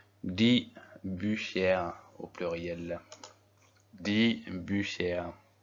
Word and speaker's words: Bücher: Die Bücher. Est-ce qu'on est d'accord que le U sans tréma se prononce OU et que le U avec un tréma se prononce U?